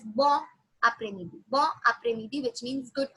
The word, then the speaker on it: bon après-midi: We pronounce the N sound but quite silent. Why N? We had noted it down last time that if it's a, if it's there's a vowel ahead, we say it as bon après-midi.